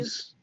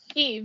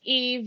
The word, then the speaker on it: Eve: Eves. Eve. You say it like Eve.